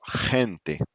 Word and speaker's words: gente: When A comes after G, it gives it the guttural KH sound, as in the Scottish loch. Loch. Yeah. So gente, Gente.